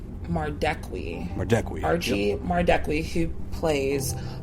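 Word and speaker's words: Madekwe: Mardekwi.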